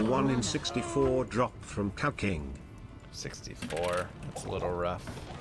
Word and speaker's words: Cow King: Yeah, it's it's pronounced cow king TTS, not cuck.